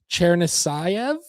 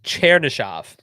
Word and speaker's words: Chernyshov: Igor Chernisayev, I think. I got the pronunciation guide in front of me. I think I still butchered it a little bit, so my apologies if Igor's family is watching the show today. I just don't know if I can. I think it's Chernyshov. There we go.